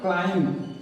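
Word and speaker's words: climb: अगला है हमारा वर्ड क्लाइम लिखे हैं क्लाइम लेकिन पढ़ते हैं क्लाइम इस बी का उच्चारण हम नहीं करते हैं क्लाइम मीस होता है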